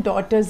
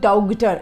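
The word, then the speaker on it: daughter: है, डॉगटर नहीं है, GH लिखा है स्पेलिंग में पर इसका साउंड नहीं है, डॉटर, DAUTER, डॉटर, ठीक है। साउंड क्या आएगा इसका, DAUTER, डॉटर, GH इसमें साइलेंट है, ठीक है, डॉटर, वी से डॉटर।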